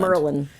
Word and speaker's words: Maryland: Merlin. If you live in Maryland, Baltimore, that's how you Merlin. pronounce it.